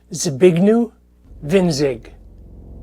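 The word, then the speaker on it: Zbigniew Winzig: Okay for the last time my name is pronounced zee big new vin zig.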